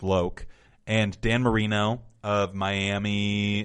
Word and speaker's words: Loc: Courtney Cox Tone Loc which I was just informed is actually pronounced loke and Dan Marino of